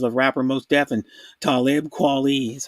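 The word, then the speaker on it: Talib Kweli: the dual composers of rapper most deaf and talib quality that's how you say his name they're they're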